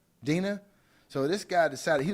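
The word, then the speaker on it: Dinah: Is it Dana or Delilah? What's her name? How do you pronounce it? Dina.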